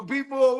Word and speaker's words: Baltimore: Be more word up. We cannot pronounce Baltimore. I didn't know it was a T in Baltimore.